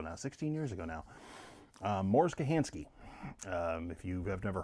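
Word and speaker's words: Mors: M-O-R-S Kochanski, K-O-C-H-A-N-S-K-I. But it is pronounced Morris Kochanski, at least as far as I'm aware.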